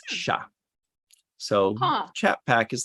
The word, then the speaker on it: chat: Unless it's a female cat, then it's pronounced chat. You actually pronounce the T. It's female. If it's male, it's sha.